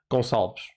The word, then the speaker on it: Gonçalves: Gonçalves, even though it's Goncalves, but no one's called that, so I'm assuming it's Gonçalves, right? Yeah, there you go. Thanks for saying my name perfectly.